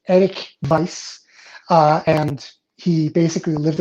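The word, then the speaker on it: Erik Weisz: that time his name was eric weiss uh pronounced eric vice uh and he basically lived in appleton wisconsin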